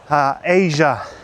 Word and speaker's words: Aja: If you guys want a recommendation for chill music for driving, you better check out Steely Dan's Asia. It's spelled AJA. Steely Dan Asia. Really nice for cruising and just enjoying the drive.